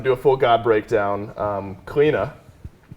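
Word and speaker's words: Cliodhna: don't have to do a full god breakdown cleena how i've been told we actually pronounce it um has been nothing short of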